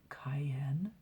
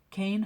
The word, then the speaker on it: Kayn: always did you know it's pronounced like cane and not like a hot pepper pretty soon you're going to have the staff really calling me cayenne cane huffed out of breath